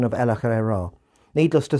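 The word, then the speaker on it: El-ahrairah: Adams makes it clear how the name Ella Herrera should be pronounced with the second syllables less stressed and the two r's slightly rolled which I almost manage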